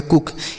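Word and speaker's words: cook: सी से हो गया क और के से भी क और डबल ओ का उच्चारण छोटा ओ की मात्रा, इसे हम पढ़ेंगे कुक।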